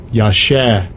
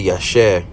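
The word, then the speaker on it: יָשַׁע: Technically, well, not with this one, but it says they will pronounce it like this. Strong's H 3467. Yashah. They would say Yashah, and that's pretty much like what they got them dots up there and stuff.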